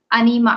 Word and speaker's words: Anima: Anima. Yes, Anima is right pronunciation.